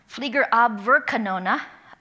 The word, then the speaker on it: Fliegerabwehrkanone: But Flak, and I practiced the pronunciation, and I did write it down. Flak stands for Fliegerabwehrkanone, which means anti-aircraft weaponry in German.